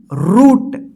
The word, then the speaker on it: root: ठीक है ना, इस तरह से आप देखिए ROOT, रूट। यानी इसमें क्या है कि डबल ओ है, तो डबल ओ का क्या उच्चारण हो रहा है?